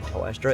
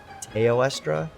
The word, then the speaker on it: Teostra: I always say Teostra. It's Teostra because it's T-E-O, not T-O-E.